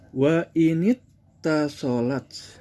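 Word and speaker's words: وإنِ اتّصلت: Wa init tasolat, asal kalimat adalah wa in, tetapi kalau lafaz in bersambung dengan hamzatul wasli, ini asalnya ittasolat, hamzahnya itu wasli, maka ketika disambungkan menjadi dibacanya wa inittasolat.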